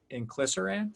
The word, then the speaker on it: inclisiran: the medicine company, and its RNAi heart drug, inclisiran. Did I pronounce that correctly?